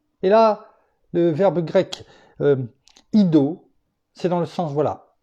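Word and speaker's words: eido: Connais, qui vient du grec ido, qui s'écrit E-I-D-O, mais qui se prononce ido, qui est dans le sens de percevoir avec les yeux.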